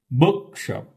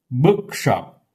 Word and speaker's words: bookshop: Bookshop. Bookshop.